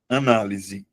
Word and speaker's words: análise: Pessoal, vamos aqui, vamos separar análise. A na l, ele tá dizendo que análise é proparoxítona.